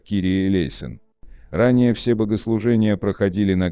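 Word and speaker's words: Κύριε ἐλέησον: 496 молитва Господи помилуй на греческом языке произносится как Кири элейн ранее все богослужения проходили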